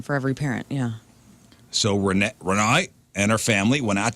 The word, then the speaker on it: Renee: It's RENEE with a little thing over the one Little of the party up E's. there? Mhm. With the little Renee. Party E. Renee. That's how you say it.